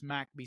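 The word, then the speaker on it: McBee: It's about a a small town that's one square mile called I would pronounce this McB mcbe, but they refer to it as Macbby, South Carolina.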